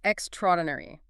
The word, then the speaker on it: extraordinary: Extraordinary or extraordinary. This one is actually extraordinary. You don't say extra and then ordinary. You blend them into a single cohesive sound.